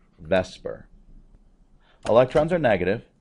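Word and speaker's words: VSEPR: shell electron pair repulsion that's Vesper I know it's spelled vper but that is Vesper electrons are negative right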